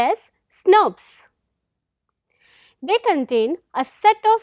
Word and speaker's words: snRNP: protein complexes called snrnps small nuclear ribonuclear protein pronounced as snubs they contain a set of five uridine Rich